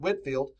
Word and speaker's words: Whitefield: like Jonathan Edwards and George Whitfield that's spelled Whitefield but Whitfield brought T emotional passionate